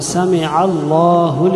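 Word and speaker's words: سمع: সামিআ আইনটা স্পষ্ট করে উচ্চারণ, সামি আ যেন না হয়, সামি আল্লাহু লিমান হামিদা বলবেন।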